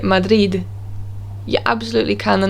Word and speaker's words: Madrid: end of a word it's usually pronounced as a th or it's just completely disregarded and they don't say it at all for example the word madrid in spanish they would say madith or madhari they wouldn't